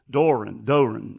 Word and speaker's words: Doe Run: Well, the guys that build them, they build them in Doe Run, Georgia. Doran. Anyway, it's spelled DOERUN, so it's kind of funny, but they build them down there.